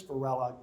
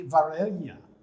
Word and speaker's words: Varela: know anything about spanish if you use a double l rather than a single l it is pronounced completely differently it would be varela uh with the double